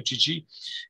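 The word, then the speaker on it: Chichi: من تشخیص میدم این قالی چیچی باشه، بهش میگن چیچی، درست تلفظش همینجوری که من میگم چیچی، به خاطر بوردر.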